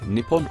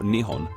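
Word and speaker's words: 日本: dis in kanji which can be pronounced in one of two ways nipon or Nihon for the rest of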